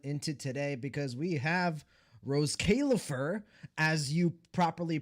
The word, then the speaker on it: Roscaelifer: They were peak fiction last night and we are going to continue that momentum into today because we have Rose Kaifur as you properly pronounce it because I actually went and